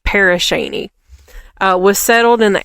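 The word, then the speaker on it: Pere Cheney: once a bustling lumber town in Crawford County, Paris Sheny was settled. It's not spelled like that. So, uh, but I bet you No. Is it? Did you Google it? Okay. Yeah. Like it's it's Paris Shaney.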